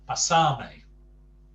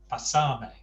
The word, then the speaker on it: pasarme: Now, note the accent placement on the two words. Pásame has the stress on the first A, pásame. The other one has the stress on the penultimate syllable, pasarme. Now, to an English ear,